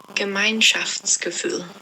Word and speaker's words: Gemeinschaftsgefühl: me a voice message of how it is pronounced. Gemeinschaftsgefühl.